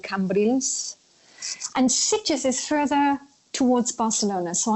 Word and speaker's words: Sitges: So tell us about Sitges, is that how you pronounce it? Sitges is where I used to live.